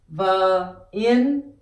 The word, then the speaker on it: viên: In order for you to pronounce viên, you will pronounce ba, ba, and this is e, a, n, in. This is in. V in vin. V e a n in. V in vin. So you pronounce the v here, and you pronounce the in here, and you add the v and the in together, and you have vin.